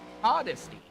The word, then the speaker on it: Modesty: Rusty Modesty actually got his correct pronunciation to his name. He sent very nice message. So it's a Modesty.